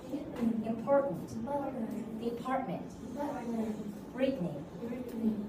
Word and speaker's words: Brittany: Brittany. Brittany. Yeah, because of Britain. So this name is taken from the country named Britain. So Brittany. So Britney Spears, like that.